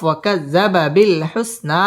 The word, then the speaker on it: وكذب بالحسنى: وكذب بالحسنى وكذب بالحسنى ওয়াও ঠোঁট গোল করে উচ্চারণ করতে হবে। ওয়াকাজ্জা জাল তাসদীদ ওয়ালা হরফ ওয়াকাজ্জাবা বিল হুসনা মদ্দে তাবাঈ একালিফ টান দিয়ে ওয়াকফ করতে হবে।